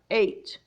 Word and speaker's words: eight: dear friend of mine G H also silent in words like eight eight eight night very good job of